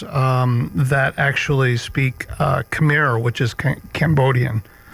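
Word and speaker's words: Khmer: Uh I think it's pronounced kamir. It's k h m e r.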